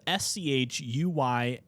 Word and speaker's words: Schuylkill: This is spelled SCHUYLKILL, Schuylkill Federal Correctional Institution in Minersville, Pennsylvania, whatever.